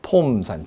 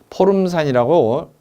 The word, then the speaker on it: 포름산: 폼산. 줄이면 그냥 폼산. 포름산이라고 굳이 발음을 늘려서 얘기하는데 폼산이라고도 합니다.